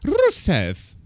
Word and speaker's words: Rusev: Yeah, so his name is not Rusev, technically. It's Rusev.